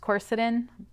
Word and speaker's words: quercetin: lipoic acid is definitely a powerhouse as is quercetin i've also heard that pronounced quercetin tomato tomato i guess now this particular supplement